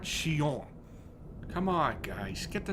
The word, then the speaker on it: Xion: Xion was affected by Roxas, just as we had anticipated.